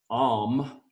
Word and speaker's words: Om: But Om, also known as Om, A-U-M, Om is how we pronounce Om.